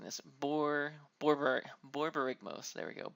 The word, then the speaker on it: Borborygmos: And I always mess up pronouncing this. Borborygmos. There we go. Borborygmos, the original one.